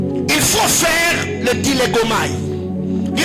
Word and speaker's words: dilegomai: Il faut faire le dilegomai. Dis à ton voisin dilegomai. Dilegomai, c'est un mot grec qui veut seulement dire créer un dialogue. Dilegomai. Dilegomai qui s'écrit comme je le dis, hein, D-I-L-E-G-O-M-A-I.